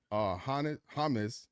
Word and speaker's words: Hannes: Hannes, because it rhymes with Giannis, covers 2 of those things.